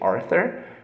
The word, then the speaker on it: Arthur: So it has an English, an Anglophonic pronunciation, Arthur, but not every name works like that. So this name was pronounced like that originally, and here in Brazil, where we speak Portuguese, we will not say Arthur, but Arthur.